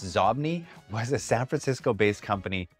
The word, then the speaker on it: Xobni: XOBNI, pronounced Zobni, was a San Francisco-based company that made software applications, including products for Microsoft Outlook and mobile devices.